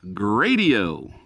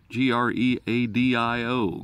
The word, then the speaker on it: Greadio: But this is the brand name is Greadio, G-R-E-A-D-O-D-I-O.